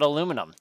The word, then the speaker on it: aluminium: aluminium or aluminum wow aluminium is used everywhere else but English in North America aluminum oh my gosh are